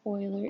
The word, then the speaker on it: Euler: Pronounce that Euler.